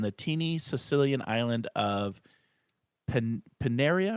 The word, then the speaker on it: Panarea: Teeny Sicilian island of paneria am I saying that right Dina how do you how do you pronounce that we can go with panarea but I'm sure they've heard words panarea okay I love it